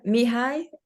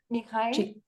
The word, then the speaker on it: Mihaly: Yeah, Mihai. Mihai. Csikszentmihalyi. Csikszentmihalyi. Mihai, yes. Yes, Thank you. it's very difficult to pronounce it L-Y because it's a one sound.